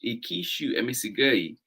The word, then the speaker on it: Ingishu Emisigoi: These animals, called Ingishu Emisigoi, pronounced Ikishu Emisigoi, are particularly significant because they are the start of his herd.